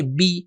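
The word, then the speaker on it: بِ: پہلا حرف ہے بے, کہ صحیح تلفظ اس کا ہے بی. یہ بھی ہمیں سیکھنا ہوگا کہ جب یہ زیر آتا ہے تو عربی میں صحیح تلفظ ہو جاتا ہے بی, بسم اللہ, جو صحیح تلفظ ہے.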